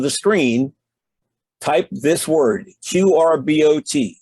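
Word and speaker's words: QRbot: the top of the screen type this word q-r-b-o-t it's pronounced qr bot and tap the search button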